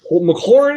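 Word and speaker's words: McLaurin: all they really got oh that's not wrong mchorn is how you say his name before mclaren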